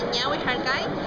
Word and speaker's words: Ñawy Harkay: Nuestro proyecto se llama Ñawi Harkai, o Ñawi Harkai como quieran pronunciarlo, los que lo pueden con Ñ.